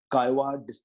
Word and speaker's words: Caillois: on man playing games and under this book chi-wah described game the concept of game and he